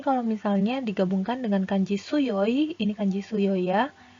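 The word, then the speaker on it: 強い: yg sudah Yi Jadi kalau misalnya dia berdiri sebagai kata sifat maka dibacanya tsuyoi Kata Si Fatih yang berarti kuat kemudian kalau misalnya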